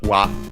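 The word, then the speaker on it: は: from the topic particle, still written ha, but pronounced as wa.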